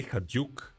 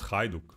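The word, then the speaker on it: Hajduk: but Co guy nonetheless they say haduk not haiduk really they say haduk man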